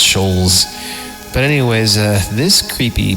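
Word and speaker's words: Schulz: how you say it some people say Schultz but I think it's schols but anyways uh This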